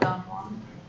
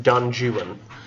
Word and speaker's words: Don Juan: So it's not Don Juan. No, it's actually pronounced in the British fashion of the time, Don Juan. Every time you see, I know it's not me being offensive. It's literally the way it was pronounced at the time and how he wanted it to be pronounced as you're reading it. Because none of the rhymes or the sounds or any of the stuff goes with Juan.